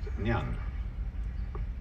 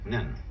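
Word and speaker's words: 念: It's pronounced nyan. Japanese nin.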